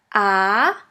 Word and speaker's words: a: repeat after me ah the letter a is pronounced like the a in the word astronaut and in the longer version it sounds like the a in the word far your first German word